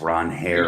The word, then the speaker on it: Ranger: It's Ron Hare. Ranger Suarez at 11. Again, I've already said I'm not the $11 going twice.